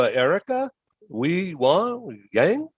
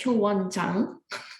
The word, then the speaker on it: Hyowon Jang: All right, so let's go to Erica Yang. Did I pronounce that right? Yeah, it's Hyowon Jang.